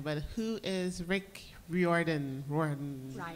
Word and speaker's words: Riordan: I'm going to mispronounce his last name, but who is Rick Riordan? Riordan. It's Riordan.